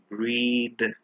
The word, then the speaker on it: breath: word is breath versus breathe remember when we put e at the end we always stretch and pronounce it as breathe but without the e we pronounce it as breath breadth is a noun